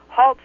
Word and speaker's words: Halse: my name is haltz haltz rhymes with Waltz I woke to the